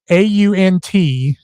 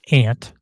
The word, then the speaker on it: aunt: AUNT is pronounced aunt, not ant.